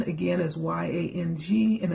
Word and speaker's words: yang: The seed sound, again, is Y-A-N-G, and it's pronounced yang.